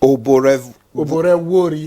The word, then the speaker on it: Oborevwori: Oborevwori. Oborevwori. The VW is pronounced, you know. Okay. So the W is silent, right? Yes.